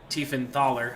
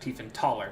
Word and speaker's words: Tiefenthaler: what I was doing so I've been corrected apparently it's Mick tiefenthaler I've been pronouncing it make thief and taller yeah so it is the th there my bad I knew it was spelled th but I gotta tell